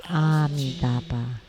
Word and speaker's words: Amitabha: That's wrong. Actually, it should be Amidaba.